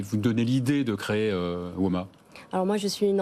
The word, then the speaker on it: WoMA: Vous étiez à la direction, au comité de direction, et vous avez créé WOMA il y a, on prononce WOMA, hein, c'est ça?